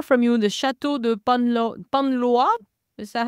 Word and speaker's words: Panlois: There's also another one that looks not far from you, the Chateau de Panlois. Is that how they say it? Panlois, yeah.